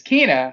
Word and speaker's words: Kina: I just feel that there needs to be one more E in her name for it to be pronounced correctly. Yeah. Because or Kinah. Yeah, it's Kinah.